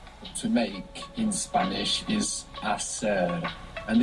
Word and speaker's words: hacer: To make in Spanish is hacer, and it has a silent H. It's H-A-C-E-R. So in most of Spain, actually, that would sound hacer, but hacer in most of the Spanish-speaking world.